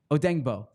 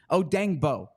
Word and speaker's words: Odeyingbo: Fran says it's Odeyingbo. I can say, okay, thank you, Fran. I should have put the pronunciation. Odeyingbo. I can say that well. So Odeyingbo, thank you, Fran.